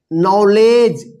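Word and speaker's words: knowledge: ई इसको क्या पढ़ेंगे नॉलेज नॉलेज नहीं पढ़िए देखिए यहां पे पिछले क्लास में बताए थे कि डी और जी एक साथ लिखा रहेगा तो यहां पर क्या होगा डी जो है ना साइलेंट लेटर रहेगा यहां पे डी भी क्या है साइलेंट है और इसमें के साइलेंट है ठीक है ना तो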